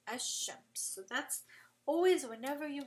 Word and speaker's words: الشمس: So you basically drop the sound of the lam, and you are just going to pronounce the next letter after it. So like الشمس, I'll write an example here. You're going to just pronounce a and then straight to the sheen, right? You're not going to say al shams, you're going to say ash shams.